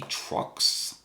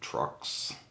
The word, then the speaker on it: Truix: And this is the Truix, I do believe is how it's pronounced.